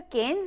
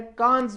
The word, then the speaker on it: Cannes: फिर वैसे तो ये CANNES, केन्स या कांस, वो केन्स ज्यादा कहा जाता है, लेकिन असल में ये कैन है, CAN। इसका प्रोनाउंसिएशन जो है ना वो CAN है।